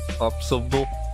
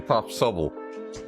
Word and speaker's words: Pop Subble: Like Popsicle, but Pop Subble, yeah.